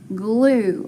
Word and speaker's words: glue: one does the token so it's a long u and a sneaky or silent e so and i've got that blend the gl so i can say you glue very good so glue